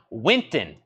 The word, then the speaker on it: Wynton: Mar Salas Wynton Marcellus there was one of these names I was putting an extra syllable in I don't think it's that one Winton maybe I was saying Winston yes I was saying Winston that's Winton Marsalis that is sealed 1999